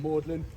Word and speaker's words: Magdalene: name this college but he made everyone pronounce Magdalene Maudlin just so it sounded more like his last name they have a very